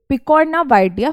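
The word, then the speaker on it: Picornaviridae: अब यह बहुत हार्ड टर्म लग रहा होगा मैम इसे हम कैसे प्रोनाउंस करेंगे? यह हो गया पिकोना यह हो गया वाइडी फैमिली। ये इसकी फैमिली का नाम है। क्या है इसकी फैमिली कॉजिटिव एजेंट की? पिकोना वाइडिया फैमिली।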